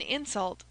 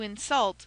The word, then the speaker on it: insult: Thus, when we say that anything is an insult, that word is a noun and is accented all the first syllable. But when we say he did it to insult another person, that word insult implies acting and becomes a verb and should be accented on the last syllable.